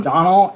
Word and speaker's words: Domhnall: I think it's pronounced Donald. Donald?